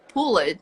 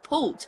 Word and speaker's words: pulled: me feedback like Maria why do you say pull it it's actually pulled and native speakers they